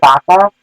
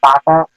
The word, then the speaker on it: Baca: However, I did bring up the Los Angeles County Sheriff, Lee Baca. I believe that's how you pronounce it. It's C-A-C-A, and I'm going with Baca.